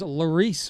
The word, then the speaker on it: Loris: need Loris Motorsports insurance so I was pronouncing that wrong that is Laurice Motorsports insurance so if you're car